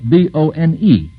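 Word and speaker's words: Bône: now here's another name little like Luna but it's spelled b-o-n-e which is pronounced bone I guess Mr Bromfield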